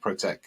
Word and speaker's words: ProteQ: word protect, but without we don't pronounce the C, because people see the logo with the P and the Q and the C, so we're just calling it ProteQ when we pronounce it.